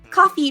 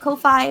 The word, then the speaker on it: Ko-fi: And another way to support our stream is we have set up a coffee page. I always want to call it Ko-Fi, but it is pronounced coffee.